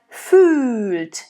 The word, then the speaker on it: fühlt: But here we have fühlt. So it's really important to make that distinction whether it's an open or a closed Ü, right? So Ü, Ö, Ü, Ö. Here we have the closed version, it's Ü. Fühlt. And the rule is really if there is an H following any vowel, it lengthens it and then it makes it closed.